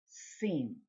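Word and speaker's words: שׂ: the left side of the letter it is pronounced scene that's why you have this little reminder sh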